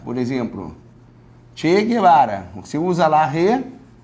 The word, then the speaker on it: Guevara: Porque pode ser Guevara, por exemplo. Che Guevara. Você usa lá re, esse U não é pronunciado.